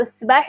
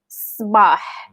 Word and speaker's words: Sabah: So, Sabah it sounds like really like for us words when someone say that. So, that's like an emphatic sound. Sabah.